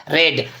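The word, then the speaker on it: read: ठीक है, नीलम पढ़ चुकी है, नीलम हैज एक वचन है तो has, Neelam has रेड। रीड रेड spelling है क्या होती है, बोलने का तरीका बदल जाता है, रीड रेड रेड।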